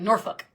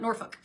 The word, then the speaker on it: Norfolk: I always people always say you say it wrong. It's like Norfolk, which I love the f word, so I should have no problem saying that. Norfolk.